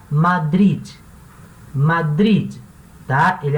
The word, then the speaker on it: Madrid: eu moro em madri lembrando que cidade de madrid em espanhol termina mês ideia tá esse de ele não é muda ele pronuncia tá madrid madrid tá ele é